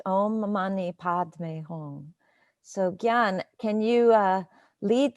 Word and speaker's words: Om Mani Padme Hum: And it's pronounced Om Mani Padme Hum.